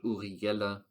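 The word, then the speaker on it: Uri Geller: spoon you know uh I only know the German way to pronounce it because it's a guy from Switzerland uriguela the Switzerland spoon bending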